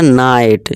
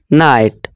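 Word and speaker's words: night: कि ऊंचा इस तरह नाइट जी और एच साइलेंट है आप बोल सकते हैं नाइट और यह लाइट एल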